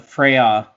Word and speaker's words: Freixa: How do you say that in like Spanish? Freixa. It would be Freya.